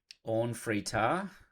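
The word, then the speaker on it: Orn Free Taa: Now, Orn Fritar, that's how you say it, is a different take on the art than we've seen so far.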